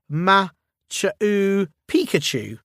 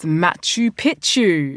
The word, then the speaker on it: Machu Picchu: Athena, if you like, I could just look into the case of uh Machau Pikachu. It's pronounced Machu Picchu.